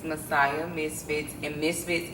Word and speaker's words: Misfits: So, I do have a website, and it's Messiah Misfits, and Misfits is spelled with Z's. So where you would have the S, it's MIZFITZ, Misfits, not with the S.